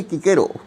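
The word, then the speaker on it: Cicero: আর ও ভুল করেছি অনেকে সিসেরো উচ্চারণ করেন এখানে যাই হোক লাতিন উচ্চারণ হচ্ছে কিকেরো তার টাস্কিউল ডিসপিউটেশনস বলে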